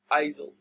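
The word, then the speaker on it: aisles: find pronounced this way a-i-s-l-e-s he pronounce it as isil so uh okay one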